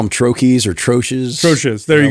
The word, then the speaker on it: troche: Troche? Something like that. Troche. Yeah, okay. Yeah, the common pronunciation is troche.